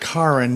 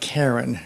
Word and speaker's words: Karen: Karen Armstrong, and she pronounces it Karen, not Karen, because she's British, is an ex-nun.